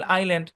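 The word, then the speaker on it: island: ওকে, যেসব জায়গায় এস উচ্চারিত হবে না, চলেন খেয়াল করেন। সাইলেন্ট এস এর ধরাবাঁধা কোনো রুল নাই। তো রুল না থাকলে কি করতে হবে? আপনার ডিরেক্ট মুখস্থ করতে হবে। যেমন ডেব্রি, বর্জিয়া, আইল, আইল্যান্ড।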